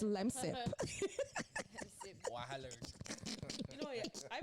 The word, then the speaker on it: Lemsip: I've been saying lemslip all my life, and it's lemsip.